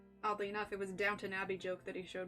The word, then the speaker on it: Downton: one let's see what just me mispronouncing the title downton abbey oh yeah downton versus downtown yeah mango fruit punch